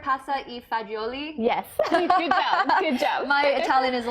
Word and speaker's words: pasta e fagioli: with is one pot pasta am am i pronouncing this right pasta e fagioli yes my Italian is a little rusty yeah